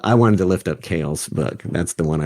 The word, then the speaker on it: Keel: trying to Google that that's othmar Keel that's how you would spell it so Mark Hale uh but it's oth Mar k-e-e-l um so symbolism of